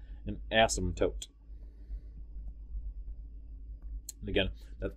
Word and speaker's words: asymptote: actually say it is asymptote you do not pronounce the p at all it is not asymptote it is not asymptote i'm just goofy and